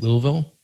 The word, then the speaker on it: Louisville: they can go download that book for free and if you're looking for a new agency in how do you say at louisville that's it that's perfect a little yeah yeah